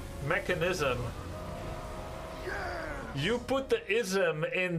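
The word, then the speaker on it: Mekansm: It is spelled in the game Mechanism. Like Mackenzie, the American girl name. So I am going to say Mechanism.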